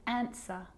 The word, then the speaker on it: answer: It's also not pronounced in these common words: who, whoever, whole, to, sword, and answer.